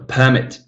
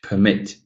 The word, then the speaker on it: permit: Noun, a permit. Verb, to permit.